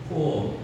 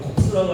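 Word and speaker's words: corps: 코어 이 뒤에 P가 들어가 있는데 이건 묵음입니다. 발음하시면 안 됩니다. 어느 책에 보니까 프랑스 말로 콥스는 시체라는 단어예요. 여러분 콥스라고 하면 굉장히 불쾌하죠.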